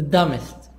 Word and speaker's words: dumbest: promotion arrays 11 the dumbest the dumbest be silent the dumbest the most